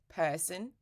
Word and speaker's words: person: in English such as person person so you can say person yeah it's completely fine if you do person or person but the problem is many Brazilians say person it's not person it's person nervous person go go